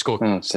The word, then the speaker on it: Scorsese: So it's Scorsese.